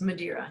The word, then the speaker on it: Madeira: So, your last name is Madeira. Is that how you pronounce it? Yes, Madeira. Yep. Okay, cool. It's the same as the wine they toasted the signing of the Declaration of Independence to.